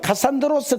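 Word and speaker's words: Κάσσανδρος: 쪼개지 여기가 유럽이아요 유럽은 카산드로스 캐 놨지만이 뭐 헬라 발음이고 우리로 하면 카산드라는 사람한테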